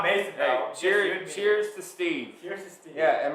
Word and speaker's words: Mason: have to clarify that Mason no it's m-a-s-o-n like a stone Mason like a free mason yeah yeah Mason yeah